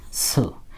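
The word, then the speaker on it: つ: টি এস ইউ বলে সু টি এস ইউ সু এখন কথা হলো টি এর পরে এস থাকলে কিন্তু এই টি এর উচ্চারণ হয় না যেমন সুনামি সুনামির ক্ষেত্রে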